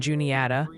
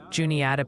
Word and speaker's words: Juniata: Raren, Rarden, Ohio, Lebanon, Lebanon, Ohio, and Juniata. Juniata, PA.